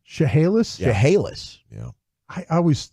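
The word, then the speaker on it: Chehalis: Shahala nearby chahalis M that's how that City pronounced chahalis chahalis yeah I I always you knock apples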